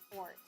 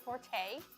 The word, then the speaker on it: forte: because it's not accurate fort is actually pronounced fort how else do you say it people say forte if you put like